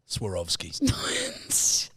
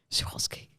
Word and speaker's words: Swarovski: is that what is it's swarovski because you're saying that i know how to pronounce the schwatzke no schwalski swarovski no oh my god it's